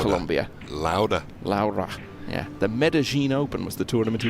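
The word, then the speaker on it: Medellín: he won was the medene open the medene open yeah it's a couple of L's so you wouldn't have thought it would be pronounced that way but I have been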